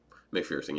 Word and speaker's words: McPherson: McPherson, yeah.